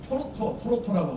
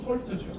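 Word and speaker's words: Dort: 배경을 보게 톨토라고 하는 것은 톨토라 일본에서 공부한 어떤 내 스승은 토로토라고 하거든요. 일본 발음식이에요. 토로토. 영어는 톨트죠.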